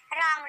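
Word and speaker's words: wrong: अब जब भी डब्ल्यू आर साथ में हो तो डब्ल्यू को नहीं पढ़ा जाता, जैसे कि रैप, रैप मीन्स होता है लपेटना, रॉन्ग, रॉन्ग मीन्स गलत, इसमें हम डब्ल्यू को नहीं पढ़ रहे हैं।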